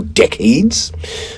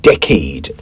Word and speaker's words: decade: Well, why don't we now take the opportunity to deal with the pronunciation of the word decade. D E C A D E decade, not decade.